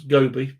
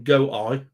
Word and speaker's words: Gobi: Uh, Andy's, I believe, trying to pronounce Gobi, but he's gone go eye.